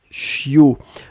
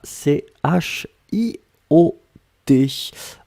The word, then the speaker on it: chiot: ce qu'on appelle un chiot on écrit ça ch io t on ne prononce pas le thé finale je veux un chiot